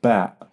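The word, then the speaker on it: باء: on the dot one we call it ba. So it's pretty much equivalent to B.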